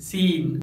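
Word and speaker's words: scene: जब letter S के बाद सी आता है तो लेटर सी साइलेंट होता है, जैसे सीन साइंस muscle disciple सिनारियो।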